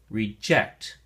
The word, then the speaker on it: reject: it in a sentence if you use it as a verb like in the definitions that we're going to share then the emphasis or stress is on the second syllable and we say reject reject if you use it